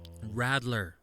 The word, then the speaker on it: Radler: Next episode, spoiler alert, we are doing a Rattler episode. So Radler. I call it Rattler. Well, it's spelt with a fucking D.